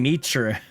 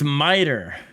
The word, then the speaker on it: miter: It's funny, he's saying Mitra. It's miter. It's a One West tradition where they mispronounce the word, and it translated in English M-I-T-I-R as Mitri, and they just never have said it properly since then.